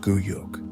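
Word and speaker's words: Güyük: secure the election of her own son, Guyuk, pronounced Guyuk, as the next Khagan, often against the wishes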